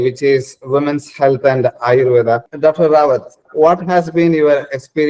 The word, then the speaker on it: Ayurveda: So I have to really tell them that Ayurveda, Ayurveda, I-U, and then, Ayurveda, and that's how Ayurveda, that's how things used to be.